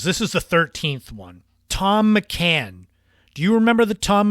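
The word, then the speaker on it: Thom McAn: way it was spelled how could T hom be Tom it was th so I said why is th M why isn't it pronounced that way they were started in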